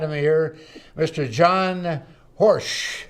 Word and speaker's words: Horejsi: John Horsch. Correct. Did I pronounce it right, John?